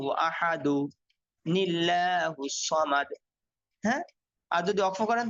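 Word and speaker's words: أحد الله الصمد: সামাদ কুলহু আল্লাহু আহাদু দালের মধ্যে এক পেশ দিবেন কুলহু আল্লাহু আহাদু লিল্লাহুস সামাদ হ্যাঁ আর যদি ওয়াকফ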